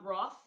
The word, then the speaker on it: Roth: that's my favorite yeah i love um roth um germany the german pronouncer wrote but dominic he will